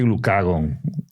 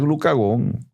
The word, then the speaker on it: glucagón: Y es que el glucagón, que no es tan conocido, a mí me gusta decirlo, hay gente que dice glucagón, pero como tiene acento en la O es glucagón, yo lo siento.